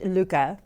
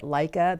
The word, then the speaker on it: Lykke: video, I'm going to give you a rundown and a review on the Lykke needles, and it is actually pronounced Lykke, and I brought my book by Mike Viking.